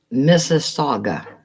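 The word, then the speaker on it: Mississauga: giving us new subjects and Miss Saga that's how you pronounce it Miss Saga Miss Saga like Mississippi M SS I I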